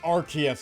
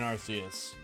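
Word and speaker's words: Arceus: It's pronounced Archus. I'm sick of people saying Arus.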